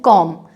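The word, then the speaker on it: comb: ऐसे ही कंघी, जिसे इंग्लिश में बोलते हैं कॉम, उसमें कॉम्ब नहीं बोलेंगे, उसे कॉम बोला जाएगा।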